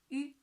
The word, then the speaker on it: yu: Yes, your tongue tips pressing the inner surface of your lower teeth like this. Yu. And purse your mouth like this. Okay? Yu. And the first tone, Yu.